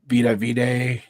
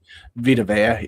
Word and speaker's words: Vita Vea: you go to the Tampa Bay with that Vita Vide, or you say his name, Vita Vea.